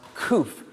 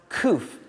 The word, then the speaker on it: COOPH: that this is pronounced coof like pH so I always knew it was the Cooperative of photographers but it is pronounced coof and not Coop so my bad so